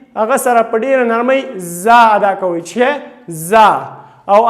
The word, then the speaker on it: ز: دا به څنګه تلفظ کوو؟ زا. لکه موږ تاسو بعضې هغه پیژنو، لکه که شاتو مچۍ وګورئ نو هغه څنګه اواز کوي؟ یو بزاری کوي.